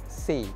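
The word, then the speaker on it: SYE: So the first brand kita akan borak is say. Tapi dia punya ejaan SY E bukan saya say.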